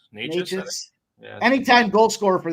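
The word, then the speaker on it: Nečas: How do you say his last name? Is it Nekus? Martin Nekus? Martin Natchez.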